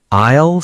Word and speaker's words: aisle: Aisle, silent S.